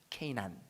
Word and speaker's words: 게난: 여러분, 우리 여기 그 5장 9절에 에노스는 90세에 게난을 낳았고, 이 게난, 케이난이라고 발음하거든요. 케이난.